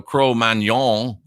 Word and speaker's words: Cro-Magnon: cruel man yawn or cro-magnon it's actually a French word so crow man y'all and my horrible French would be more likely the real pronunciation and that they go